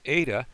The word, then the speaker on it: eta: on the H, but it does not have that ha sound. That will be something else that gives you the sound. So this is an eta, like in the word they, that a sound.